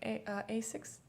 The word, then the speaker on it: Asics: like Asics. Is that how you pronounce it?